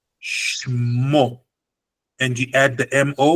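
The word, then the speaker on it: שמו: So the root of the word is Shem, but the pronunciation is dictated by this, that shewa, the two dots going down, which means don't say the segol, the chataf segol, don't say it, just say Shmo.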